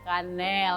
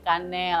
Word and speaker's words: Kaneel: bacanya kayak orang Indonesia jadi bacanya kanel karena e-nya 2 bacanya kanel agak panjang itu artinya Cinnamon atau